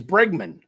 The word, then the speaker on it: Bregman: he didn't sign yet what it's bre it's bregman I know I've said it wrong since day